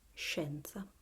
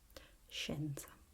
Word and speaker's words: scienza: So we have scienza, scienza.